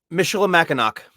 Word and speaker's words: Michilimackinac: How do we pronounce this word again? Michilimackinac? Michilimackinac.